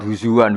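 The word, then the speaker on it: هُزُوًا: masterdarnya bacanya huzuan ya imam asim bacanya di masdarnya huzuan.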